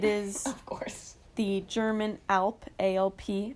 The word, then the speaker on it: Alp: The German Alp, A-L-P. I think that's how you pronounce it, right? Like the Alps.